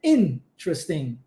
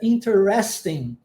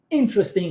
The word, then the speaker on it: interesting: é assim em inglês na maioria das vezes a sílaba tônica principal estará no começo da palavra então a pronúncia correta é interesting interesting lá no início